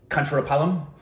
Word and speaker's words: Kancharapalem: How do you pronounce that place? Kancharapalem.